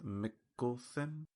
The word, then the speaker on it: Mikkelsen: But I guess I'm glad to know that it is Mikkelsen.